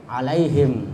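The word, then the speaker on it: عليهم: atau enam sawaun ya kemudian alaihim Nah itu kalau ada Alif ada fathah ketemu Ya Sukun yaitu mad lin I Mad yang lembut alaihim kemudian alaihim a ya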